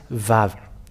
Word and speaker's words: Vav: Let me save it in case it will disappear, but its pronunciation is V. The Yod, Hey Vav Hey, is read as Vav.